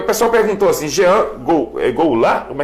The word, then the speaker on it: Goulart: Jean, porque o pessoal perguntou assim, Jean Goulart? Como é que é? Jean Goulart. Goulart? É falado mais Goulart, né? Mas o pronunciado Goulart.